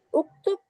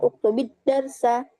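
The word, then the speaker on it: اكتب الدرس: Uktubi, bukan uktub, tapi uktubid darsa. Kenapa? Liltiqa'is sakinain, karena bertemunya dua sukun.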